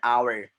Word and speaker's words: hour: एन आवर, डू उसको हावर नहीं बोलते, एच is silent, the next letter is